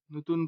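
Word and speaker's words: non: ন, নাসিক্য বর্ণের মতো নাক দিয়ে এটা উচ্চারণ হবে, ন।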